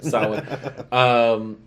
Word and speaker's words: Samhain: Treat, about Halloween traditions, and Samhain or Samhain and Samhain. Yeah. Well, many different pronunciations, but the correct one, Samhain, which is also a very good movie.